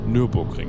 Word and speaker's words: Nürburgring: Nürburgring is the correct pronunciation.